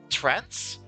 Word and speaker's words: trance: into into this trans trance. How do you pronounce that, by the way? T R A N C E. Not not trans as in transgender, like trans trance with a with a C.